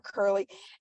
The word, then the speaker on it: Currle: dear sweet friend, Currle. I probably pronounced your last name wrong. I'm so sorry. No, honestly, that's exactly how I'm introducing myself when I pronounce it.